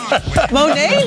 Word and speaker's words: Monet: Monet? Did I say it weird? No, you said it right.